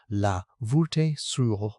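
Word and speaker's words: La Voulte-sur-Rhône: of France near a village called Laves Suron, pronounced La Veho or O A.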